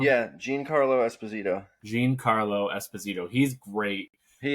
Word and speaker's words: Giancarlo Esposito: Giancarlo Esposito. Yeah, Giancarlo Esposito.